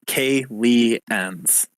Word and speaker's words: Kalians: In character, the Kalians. That's how you pronounce it. Kalians. Kalians.